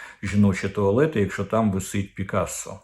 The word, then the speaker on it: Пікассо: туалети якщо там висить Пікассо Я кажу то Пікассо то Пікассо Мені більш до вподоби французька вимова з наголосом на останній склад але вам можливо до вподоби більш Комуністична вимова Пікассо І от вони Так